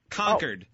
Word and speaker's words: Concord: live to, in- no, you have to learn to pronounce it. It's Concord. Concord. Yeah. Not F Concord. those New England jerky Kennedys. I'm saying it's Concord like the grapes.